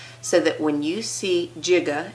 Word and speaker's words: giga: So that when you see giga, and yes, it's really pronounced giga, and second pronunciation, but not the preferred, is giga.